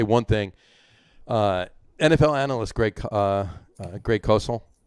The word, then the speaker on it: Cosell: NFL analyst Greg Cosell, not Cosell, but it's Cosell, I think actually it's pronounced.